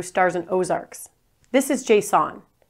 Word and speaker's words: JSON: This is JSON. Here's a trick on how to pronounce it right. Just say, is the light JSON or off?